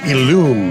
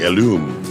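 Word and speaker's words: Ellume: All right, Illume, I believe is the way you pronounce it. E-L-L-U-M-E, Illume, an Australian company that makes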